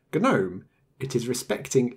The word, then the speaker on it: GNOME: acronym of ganu as ganu is not Unix and that is why we have a hard G in Gnome it is respecting its